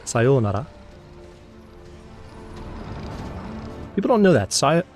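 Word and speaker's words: さようなら: sayonara or as it would properly be said sayonara people don't know that sigh sayonara has a double O sound the westernized pronunciation is sayonara but it's sayonara to be trying to remember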